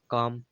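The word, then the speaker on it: calm: तरह से हमने कहा सी ए एल एम काम जिसमें ए का हो गया आ यूज़ हुआ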